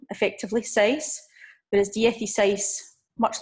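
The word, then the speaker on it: dieciséis: me also notice that the number 6 seis has no accent the number 16 the FE says we have an accent on the seis that is purely because of weirdest a says and that words DFT seis and it's telling us where to put the stress for the word so her Misha dat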